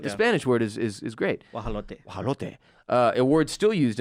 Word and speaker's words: guajolote: It's guajolote. Guajolote. Guajolote in Spanish. Guajolote. I can't say the Aztec version, but it's spelled in an absolutely asinine way with so